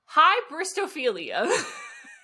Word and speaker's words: hybristophilia: just gave you, to talk about the term Hybristophilia. Come again? Hybristophilia. What's the first letter? P or H? H-Y. Hi. Hybristophilia. Spell it.